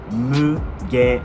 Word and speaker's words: Mugen: how you say it Mugen is not Mugen it's actually Mugen Moo gate and so if you spell it out like that it makes sense right because that's what it says it's not Mugen it's Mugen so that's